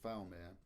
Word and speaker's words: Fowlmere: My dad's the village I was born in is called Falmere. And they then moved a mile up the road to the village called Triplo. My dad spent most of his childhood. Falmere is spelt Fowlmere, which the etymologists amongst